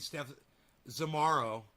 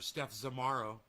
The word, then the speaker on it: Steph Zamaro: blames jimmy dore and steph zamaro he calls her steph zamaru he's so disrespectful towards her hey tim you know even if you're going to call her out on the internet at least say her name properly you know they did